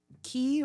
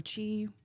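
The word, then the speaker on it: Qi: Gosh, I mean, of course, Mr. Key or Chi, whichever pronunciation you choose.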